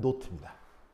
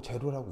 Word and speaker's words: 노트: 읽을 때 뭐라고 냐면 공식 발음은 노트입니다 노트인데 아무도 노트라고 안 있고 제로라고 있습니다 근데 제로 아니고요 알파벳 숫자 0은이 길쭉하게